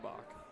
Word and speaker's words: Boach: I think her name is pronounced Bach.